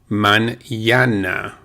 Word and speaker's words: mañana: Now, if you have the N with a little squiggly line above it called an accent, or the accent above that N, the N is pronounced as if it were an N-Y, N-Y. It's actually literally called an N-Y.